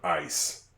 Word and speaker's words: ice: It's an I. lowercase I and then C E ice. That's a soft C and then a silent E. Now, how do we know that that E is going to be silent at the end of that word?